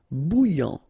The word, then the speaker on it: bouillant: Final T not pronounced. A and together. Remember nasal en. Okay. And then here you get bou. Alright. And after that you get this yan. Okay. Bouillant.